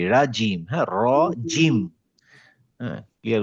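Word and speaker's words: رجيم: জিম, এটা হচ্ছে জিম দিয়ে, জিমের উচ্চারণ কি? রাজিম।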